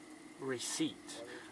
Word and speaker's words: receipt: Receipt. 那个 P 不发音啊，P silence here.